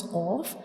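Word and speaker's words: قاف: And when we pronounce cough, the very back part of our tongue will touch the soft palate, like cough, cough.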